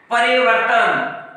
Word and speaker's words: परिवर्तन: इसी तरह हम लिखते हैं परिवर्तन, त से पहले इस रेफ का उच्चारण हो रहा है।